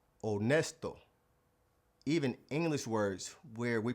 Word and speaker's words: honesto: The H in Spanish is always silent. It's like the H in the word honest. honesto Even English words where we pronounce the H, it would be silent in Spanish.